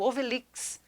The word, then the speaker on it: Ovelhix: E aí, então, surgiu uma obra maravilhosa, que é o Obelix. Obelix. Obelix, inclusive, como é que se escreve Obelix aqui para mostrar para o pessoal?